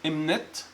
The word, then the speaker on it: imnt: Number one, west, which is pronounced imnet, or right hand, which is pronounced wimni.